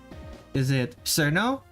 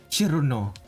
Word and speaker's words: Cirno: Is it Cirno? Cirno. The way it's pronounced in Japanese, or is it Cirno? The way Americans are taught to speak it.